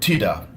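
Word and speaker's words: tidak: And then you learn the word tida, which is not. It's pronounced like that, but it's spelled with a K at the end. So tida is not or no.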